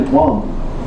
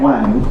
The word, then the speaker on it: Wang: It's actually Wang. It's not Wang.